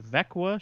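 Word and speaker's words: Växjö: It's spelled Vaxjo, pronounced Vekwa.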